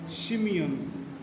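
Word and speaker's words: Tsimshian: northward, the Hedas and Shimeons, T is silent here, children.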